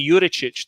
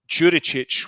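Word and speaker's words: Đuričić: one recently uh philip jurichic whose name is actually urichic the d is silent but i've been calling him juricic with a dj sound for six years so i thought well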